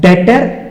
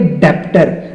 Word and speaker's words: debtor: ये बता देता हूं डेटर और बहुत बच्चे इसको पढ़ेंगे डेप्ट बट ये डेप्ट नहीं है यहां पर बी होगा साइलेंट तो हम इसको पढ़ा करेंगे डेटर अब ये डेटर और